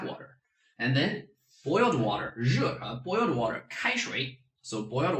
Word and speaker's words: 热: How do I make it easier? You make it into Asia. See, focus on the end, Asia. Put a 4th tone on that.